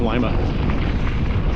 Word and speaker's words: Lima: That's pronounced Lima.